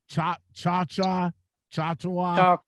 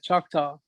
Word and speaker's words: Choctaw: durant the where from durant i i can't pronounce the casino name but chop cha-cha cha yeah choctaw yeah that's right that's right they got a